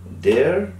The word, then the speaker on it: their: দেয়ার, দেয়ার্স, এটা কিন্তু দেয়ার না, দেয়ার, ভেরি স্মুথলি বলবেন, দেয়ার্স, এস যুক্ত হয়েছে।